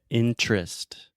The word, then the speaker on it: interest: And a lot of times when we have an unstressed syllable in the middle of the word, we just eat that sound, and I just say interest, Interest. just like Pinterest, Okay.